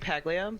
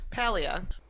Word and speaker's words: Paglia: I kept saying Paglia, but I watched a special feature on the DVDs, and Jamie Paglia himself said his own last name. Ah. And I'm like, oh, check me out. I'm totally pronouncing that wrong, so sorry, Jamie. But Paglia. It was written by our